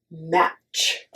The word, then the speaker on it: match: Look at the word match. Match. So we don't say the T sound, and it's just match. It's like just okay. It's just the match. T is like a silent letter in there.